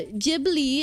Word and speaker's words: Ghibli: Jibli is the correct pronunciation.